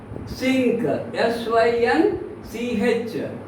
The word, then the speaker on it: synch: Sync, S-Y-N-C-H. In pronunciation, H is dropped, just sync.